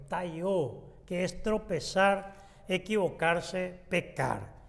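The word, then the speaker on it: πταίω: Es la palabra que viene de taió, así se pronuncia en el griego, taió, que es tropezar, equivocarse, pecar.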